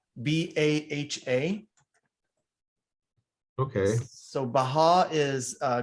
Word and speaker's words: Baha: yes it's actually uh is an arabic word that means glory or splendor how do you spell that b-a-h-a okay so baha is